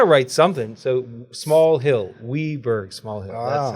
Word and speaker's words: Wiberg: Not Wiberg. Yeah, it's pronounced Wiberg.